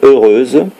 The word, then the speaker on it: heureuse: respecté la variable pourquoi parce que heureuse commence par un H muet puisqu'on dit l'heureux évènement donc vous faites bien les lésions quand vous dites le rose événement donc le H de heureuse est muet c'est à dire comme